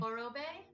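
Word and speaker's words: Orobae: Orobe. It's O-R-O and then Bay, B-A-E.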